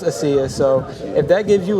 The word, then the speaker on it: Asia: The whole world was Asia at one point. But it's pronounced Asiya, so if that gives you light, go ahead with it.